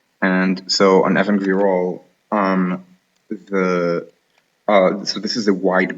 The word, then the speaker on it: Ibn Gabirol: supposed to be called Ibn Gabirol. However, nobody except prescriptivists call it this way. It's pronounced Evan Virol, not Ibn but Evan. And so on Evan Virol, so this is a